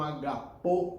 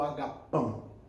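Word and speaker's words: ἀγαπάω: Quando Jesus pergunta a Pedro se ele o ama, Jesus usa o verbo grego agapau, que alguns pronunciam como agapô ou agapão.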